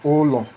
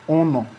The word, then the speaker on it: olo: This house in Igbo, they call it olo. Anambra people call it ono. Imo people call it oyo. Imo or Abia, oyo. Why Ebonyi people call it olo. Olo. Olo. Almost the same thing. So that anytime you hear any of them pronouncing any of this, just know that they are referring to one thing.